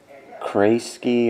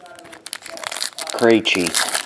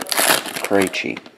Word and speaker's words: Krejci: Krasky or Krashy or something. Anyway, That ends in a 2. 142 of 199. 2 is Gilbert. Krejci. That's it. Krejci. Austin Matthews, 26 of 249.